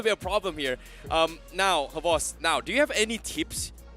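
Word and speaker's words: XBOCT: Is it pronounced as Havos or Xbox? It's pronounced as Havos.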